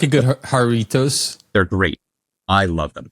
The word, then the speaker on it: Jarritos: Yeah, you could say like jar of toes.